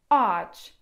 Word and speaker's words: ağaç: I przykładem tu będzie słowo acz, czyli drzewo. Słyszeliście, co się stało? W takim przypadku tego miękkiego G nie czytamy, a samogłoska, która jest przed tym miękkim G, jest wydłużona.